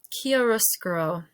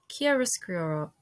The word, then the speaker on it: Chiaroscuro: Pronunciation. Ooh, chiaroscuro. Chiaroscuro.